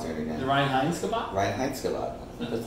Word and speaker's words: Reinheitsgebot: Reinheitsgebot.